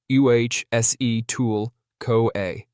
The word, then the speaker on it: acetyl-CoA: Together, they form a super important molecule called acetyl-CoA, pronounced UHSE-tool-CoA.